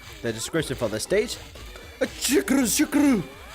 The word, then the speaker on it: Shuckle: Shukuru. It's a Japanese Godzilla reference, because in Japanese, for them to pronounce an L sound, they do RU, which is ru, which kind of sounds like an L.